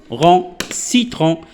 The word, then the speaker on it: citron: Alors, C avec I se prononce comme si. C avec E se prononce comme ce. C avec Y se prononce comme si. On a un exemple. Par exemple, alors, citron.